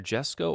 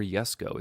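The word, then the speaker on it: Jesko: the kic seg and they pronounce it it's either Jesco or yesco it's a Swedish car $20 nice you you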